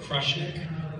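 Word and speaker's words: Krushnic: Um I so we we pronounce it crushnik.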